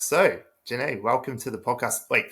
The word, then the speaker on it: Jennae: so Jan welcome to the podcast wait first of all have I said your name right Jan is that right yes you said it right